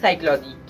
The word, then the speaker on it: psychology: Spelling इसकी शुरू होती है पी से, मगर हम इसको कहते हैं साइकोलॉजी।